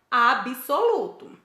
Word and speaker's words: absoluto: Outro, absoluto. Nós percebemos aí, olha, que o B é mudo. Então, nós não temos que dar ênfase para o som vocálico de I entre B e S. O correto é absoluto e não absoluto.